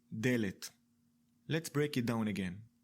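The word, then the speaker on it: דלת: we pronounce it ‘delet’.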